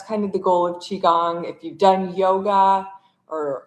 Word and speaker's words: Qigong: So, for those of you who don't know, um, what Qigong is or how to say it, it's called Qigong.